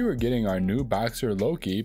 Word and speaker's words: Loki: getting our new boxer Loki pronounced like the Loki from the Marvel series his first shots my